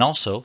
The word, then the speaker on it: ال: The definite article in Arabic is spelled Alif Lam and pronounced al.